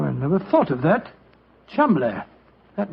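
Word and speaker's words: Cholmondeley: name Chumley is in no way pronounced the way it is spelled. Joe, I never thought of that. Chum.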